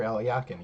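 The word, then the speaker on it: Alekhine: parents library at home and uh aliakin Alexander aliakin yes that's how you say his name also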